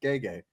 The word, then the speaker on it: Gege: We actually looked up how to say his first name because I've never heard anyone actually say it. I've only ever seen it written. And it said Gege.